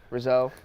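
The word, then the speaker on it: Rousseau: say I was gonna say Gregory rose out of Miami did I pronounce that right yeah so Rizzo yeah Gregory Rizzo out of Miami defensive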